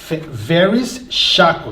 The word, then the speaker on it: Verris Shako: again guys from Yonkers voice today we have various chakra did I say it right you did thank